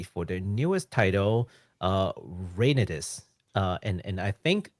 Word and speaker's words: Reynatis: their newest title uh rainis uh and and I think that's how it's pronounced u i just based it off of the Japanese pronunciation oh could you say